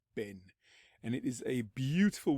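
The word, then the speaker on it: בן: and this time we are going to be looking at this particular Hebrew word which would be pronounced bin pronounced Ben and it is a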